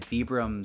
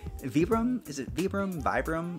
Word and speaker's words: Vibram: It does have a very traditional sort of like penny loafer style, but there is a twist with the brick red Vibram sole. Vibram? I pronounce it Vibram.